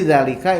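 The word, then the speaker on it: ذٰلِكَ: ini sangat pentingnya jadi Zalika itu zatnya dua harokat Kenapa karena disitu ada yang untuk keluar Ayu P diucapkan panjang dua harakat diucapkan alifnya walaupun tidak ditulis alifnya Zalika artinya adalah itu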